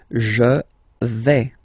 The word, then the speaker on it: je vais: Okay, so remember, final S not pronounced here. Je vais. Okay, when you combine this A, I, you get the sound E, really open.